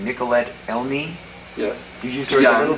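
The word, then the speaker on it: Nicoletta Elmi: what about the girl um i think you pronounce the name nicolette elmie yes you used her young girl and then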